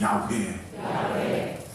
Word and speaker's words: 야훼: 여러분, 이 히브리어 원어의 발음이 뭐냐면 야훼입니다. 저를 한번 따라해 주시기 바랍니다. 야훼. 야훼인데 놀랍게도 지금도 우리가 읽고 있는 성경에는 여호와라고 그렇게 기록되어 있습니다. 이게 잘못된 것입니다. 여호와라고 발음이 되지 않고 야훼라고 발음해야 된다는 것이 모든 신학자들의 정설입니다.